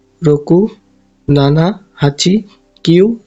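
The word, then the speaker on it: 七: এই যে এটা গো এর কাঞ্জি, এটা উচ্চারণ গো। গো মানে হচ্ছে 5। এরপর আছে রোকু। রোকু মানে 6। রোকু। এরপর নানা। নানা অথবা শিচি।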